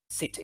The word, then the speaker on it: city: Sister, sister, glasses, scissors, scissors, city, city. So notice that we are spelling this word with a C, but it is pronounced the same way as double S, for example, yeah?